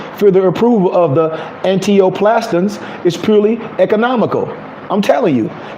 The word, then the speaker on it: antineoplastons: And this is what it's called: antioplastins, antioplastins.